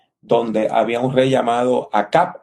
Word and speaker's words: Acab: La Biblia nos dice que Elías vivió un tiempo de crisis, ¿verdad?, donde había un rey llamado Acab, en algunas traducciones de la Biblia se pronuncia como Ahab, que se casó con una princesa libanesa que venía de el Líbano.